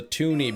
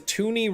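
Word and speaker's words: toonie: Because tuni rhymes with looney and the looney came out first.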